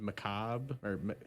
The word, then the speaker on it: macabre: pronounce most of it I think it's just Macabre yeah okay macabre okay I was worried they're